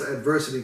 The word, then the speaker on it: aDVERSEcity: this a city but it's pronounced adversity because we're facing adversity in adverse cities you know what i'm